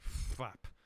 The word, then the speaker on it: Phtlap: If I had a new country, it would be named like Flap, which is spelled Phtlap, and it's the country of Flap.